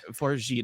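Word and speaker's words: Fargeat: let's start maybe with the director corly farit farit is that you uh pronounce it it is yeah I looked that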